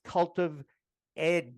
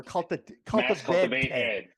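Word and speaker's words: CultivatEd: And Ryan Dominguez is the executive director of Mass Cultiv Ed. Did I say it right? Or Cultivate Ed. Yes, exactly.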